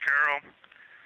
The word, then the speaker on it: Carroll: Her name was Carol, the spouse of Reed, the mother of Katie and Ellie.